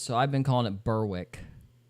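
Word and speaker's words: North Berwick: 20 miles east of Edinburgh along the f of fourth lies a coastal town named North Beric. And yes, that is going to be the last time I pronounce this in the Scottish way.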